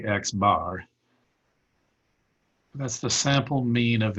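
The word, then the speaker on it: x̄: to pronounce that you you just say the sample mean of x sometimes i'll just say x bar that's the sample mean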